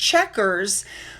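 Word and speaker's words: Chequers: Now when this activity was over it was understood that Melania was going to travel to I believe it's pronounced checkers again the grace and favor home to join President Trump for the remainder of the day program.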